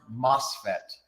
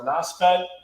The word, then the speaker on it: MOSFET: We got Maxim asking, any news on the NOSFET? Is there anything that we can share at this point? So it's pronounced. I mean, it MOSFET.